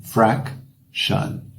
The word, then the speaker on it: fraction: O T-I-O-N vira shun, fraction.